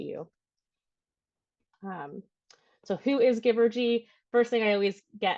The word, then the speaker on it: Givergy: our services to you um so who is Giver G first thing I always get asked is who are you like Giver givery Giver what so like to pronounce it give or G that's how you pronounce our name um so